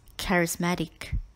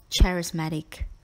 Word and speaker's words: charismatic: double L in enthralling word number five is charismatic charismatic means charming for example Zorro was known to be a charismatic and brave man have you met anyone charismatic like Zorro do not pronounce this word as charismatic in this context see H is pronounced with